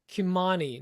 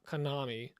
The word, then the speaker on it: Kimani: pronounced Kimani, not Konami. It's offensive.